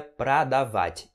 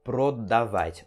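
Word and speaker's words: продавать: esse obtenção de ar Então você pronuncia pra dawat e não pro David Ok tu vai ou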